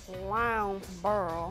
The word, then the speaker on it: Lowndesboro: I can't even say it while the pronunciation, while it's up there. Lounsboro.